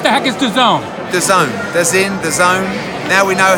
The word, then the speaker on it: DAZN: DAZN, DAZN. Now we know how to pronounce it.